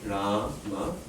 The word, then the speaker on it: Rama: The first syllable has a long vowel to it. Ra. Okay, so that's guru. This condition satisfied. The second syllable ma, it's not long, it's short. No double consonant afterwards. No or h. So it's laghu.